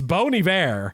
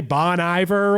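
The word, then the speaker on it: Bon Iver: It's Bony V is how you say it. But then I sometimes I even sound pret I feel like I'm being pretentious pronouncing it correctly. You know people want to say Bon Ivor or whatever.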